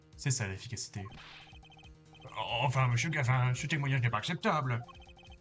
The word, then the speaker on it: Gavin: dans toute la map un type nommé Gavin se prononce Gavin et c'est drôle il